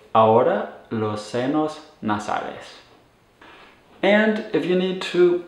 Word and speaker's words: ahora: inner ears so all you would say is aura and just make sure that h and aorta is silent it's not ahora and now talking about